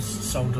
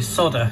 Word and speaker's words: solder: brass as well and solder them together hence that's solder not soda as the americans say soda it's got a nail